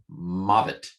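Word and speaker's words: מות: Some of you wonder why I pronounce the vavs as v. Probably in the original Hebrew, it was more wa. I don't know. I learned it. It's the way I learned it, a more modern pronunciation.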